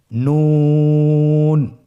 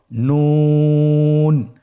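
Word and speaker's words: ن: নুন হরফটি উচ্চারণের ক্ষেত্রে অবশ্যই পাতলা করে উচ্চারণ করতে হবে এবং 3 আলিফ টেনে পড়তে হবে। আপনারা আমার সাথে বলুন নুন। আরেকবার চেষ্টা করুন নুন।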